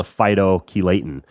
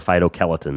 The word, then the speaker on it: phytochelatin: a chelator is called a phytochelatin or a phytochelatin, depending on how you want to pronounce it and what area of the world you're from.